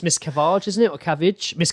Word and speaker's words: Miscavige: It's Miss Cavage, isn't it? Or Cavage? Miss Cavage, isn't it? What? David Miscavige, like the face of Scientology.